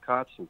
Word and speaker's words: Kotzen: metal voice it's richie cotson it is am i pronouncing your name right codson cuts and yeah there you go cotson k-o-t-z-e-n richie with no t-r-i-c-h-i-e